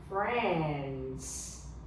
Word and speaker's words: friend: Beware of the I is silent. 我们要注意一下哦 I 这边呢 I 是没有声音的 no sound. It is silent. Silent. 好，那 I 我们不念它 fro fre and at